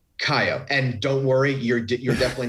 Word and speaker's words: Kaiyo: So already I've gone off base because I pronounced the whiskey wrong. It's And Kaiyo. Kaiyo, and don't worry, you're definitely not the only one.